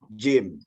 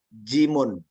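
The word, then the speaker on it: جيم: Adalah jim. Ya. Jim di dalam penyebutan mukhatta'ah ya seperti itu, jim. Namun secara penyebutan hija ya atau pengejaannya adalah jimun.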